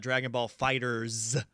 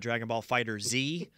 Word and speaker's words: Dragon Ball FighterZ: And I also got Dragon Ball FighterZ, since apparently it's not Dragon Ball Fighter Z. Which I don't. We're going back to the 90s where everything's spelled with a Z.